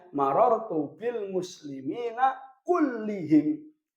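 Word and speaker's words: كُلِّهِمْ: Bacanya marartu bil muslimina kullihim. Marartu bil muslimina kullihim. Jangan kulluhum, jangan pula kullahum. karena taukid mengikuti i'rab sebelumnya.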